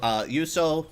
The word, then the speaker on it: Juuso: So yes, so Juuso, or Yelp as his name is, that's how you pronounce it, right? It's a Finnish J.